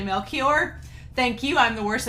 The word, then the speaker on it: Melchior: monster and several others pointed out that mel choir is actually melchior thank you i'm the